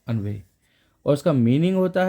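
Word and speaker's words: ennui: देखो दोस्तों, पहले इसका हम प्रोनाउंसिएशन देख लेते हैं क्योंकि इसका प्रोनाउंसिएशन काफ़ी अलग है। इसको हम पढ़ेंगे अनवे। क्या पढ़ेंगे? अनवे।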